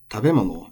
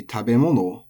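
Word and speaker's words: 食べ物: So tabemono and nomimono have two acceptable pronunciations, which are quite close. It can be tabemono or tabemono. There has to be an accent there. It has to be nakadaka.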